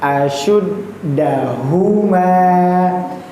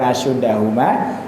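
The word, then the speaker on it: أشدهما: bukan sin yang ditebal-tebalkan bukan asud tapi su s y u asyuddahuma su ketika su berarti domah ya harakatnya nggih monggo dimonyokongkan sedikit enggak apa-apa biar dapat makhraj tebal tebalnya karena syafir menjadi huruf yang tafkim asyuddahuma ya jangan jangan lupa tapi dalnya ditasdidkan dulu bukan asyudahuma asyuddahuma dalnya pendek berarti dari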